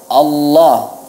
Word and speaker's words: Allah: Nah, kemudian pada kata Allah, Allah itu diucapkan dengan tafkhim, tapi tidak perlu seperti hendak menelan lidah, ya. Tidak perlu seperti hendak menelan lidah, biasa saja, ya.